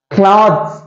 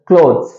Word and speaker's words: clothes: cloths அப்படின்னு வாசிச்சா அது தப்பு. Okay, you can pronounce this word as clothes.